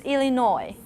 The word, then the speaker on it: Illinois: this how about this do you have the sir in your pronunciation you're not supposed to i did it when i was uh first arrived in america but it's just illinois okay now that at